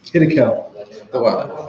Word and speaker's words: Hiddekel: How you pronounce that? Hiddekel.